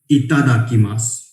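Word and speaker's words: いただきます: बहुत से लोग इसको डा प्रोनाउंस करते हैं, डमरू वाला. इट्स नॉट डमरू वाला डा, इट इज इतादाकिमासु. इतादाकिमास pronunciations. Itadakimasu, itadakimasu, itadakimasu.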